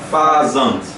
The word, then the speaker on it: fazant: Mas o negócio é a pronúncia. Como é que falava? Fazante. Fazante. Fazam. Eu nunca falei isso aqui não, mas é fazante.